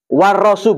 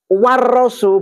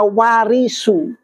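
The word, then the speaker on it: ورّثوا: ada yolti Iya kan jadi kalau pakai warasu berarti artinya para nabi itu mewariskan mewariskan tapi kalau kamu bacanya warisu nabi waris masa nabi kok malah mewaris jadi yang meninggal itu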